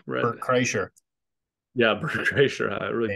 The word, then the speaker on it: Kreischer: to with one of your boys there, Brett Kirschner or whatever. What's his name? Brett. Bert Kreischer. Yeah, Brett Kreischer. I really Yeah.